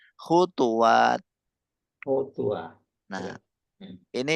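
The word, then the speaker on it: خطوات: Khutwati. Nah, itu jamak apa mufrad antum nulisnya? Oh, Nah, maksudnya setelah wawu ada alifnya enggak? Terus ada, ada. taknya maftuhah toh? Ya, Nah, berarti bacanya bukan khutwat tetapi khutuwat.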